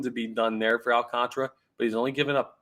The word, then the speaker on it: Alcantara: be your National League Psy young winner Sandy Alcantara as his name is properly pronounced it's 12 and 7 this year with